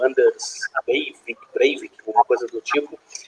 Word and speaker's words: Breivik: Em 2011, nós tivemos aqueles ataques em Oslo, na Noruega, né, que o Anders Breivik, alguma coisa do tipo. Breivik, obrigado pela me ajudar na pronúncia.